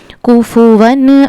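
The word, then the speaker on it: كُفُوًا: इसको हमने कुफुवन ऐसे नहीं पढ़ना बल्कि कैसे पढ़ना है? कुफुवन अहद हा का मखरज हलक का दरमियानी हिस्सा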